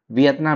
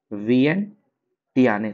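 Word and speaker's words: Vientiane: उसके बाद लाओस की राजधानी देखिए लाओस की राजधानी आप पढ़ेंगे तो बहुत लोग पढ़ देता है वियतनाम। वियतनाम नहीं वियन टटियाने। वियन टियाने थोड़ा सा अलग है।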